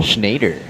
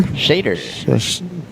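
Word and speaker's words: Schexnayder: So Schnader. Nader? Shader. So the X is silent.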